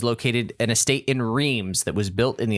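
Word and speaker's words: Reims: soft in French normally so the S would be silent um probably Clem um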